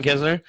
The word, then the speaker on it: Kisner: Is it Kevin Kisner. Kisner. Kevin Kisner. All right, who's your third pick there, Big Z? Kisner's not a bad choice.